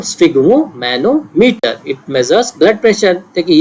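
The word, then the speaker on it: sphygmomanometer: Blood pressure को नापने का क्या तरीका है, स्फिग्मोमैनोमीटर होता है, एक इंस्ट्रूमेंट होता है, ये देखिए ये इंस्ट्रूमेंट है स्फिग्मोमैनोमीटर, स्पेलिंग देख लीजिए, SPHY, स्फिग्मो और मैनोमीटर।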